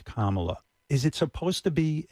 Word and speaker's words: Kamala: mispronouncing your name they they act as if they can't say comma it's not that complicated it's what what's going on what what really is going on there when they can't pronounce Kamala is it supposed to